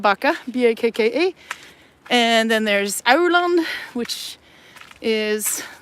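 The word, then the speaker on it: Aurland: little town called baka b-a-k-a and then there's Ireland which is like three tunnels away from here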